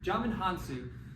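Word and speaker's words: Djimon Hounsou: I have no idea to say his name Jamin hansu I had to freaking look up how to say his name real quick um German hansu who plays uh John's dead um our achievement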